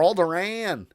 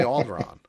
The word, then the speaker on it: Alderaan: galaxy to alderaan yay alderaan or aldorann however you want to pronounce it most fans will say alderaan and we see a